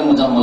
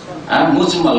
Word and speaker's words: মুজমাল: মুফাসাল আর ঈমানে মুজমাল ভুল করে অনেক উচ্চারণ করে মুজাম্মল না একই রকম করে উচ্চারণ করে কিন্তু আসলে মুজাম্মল না মুজমাল কারণ এটা হচ্ছে বাবে